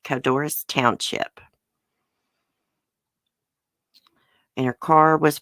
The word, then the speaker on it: Codorus: Let's see if I can pronounce this. Codorus Township. That's how you say it. Codorus Township.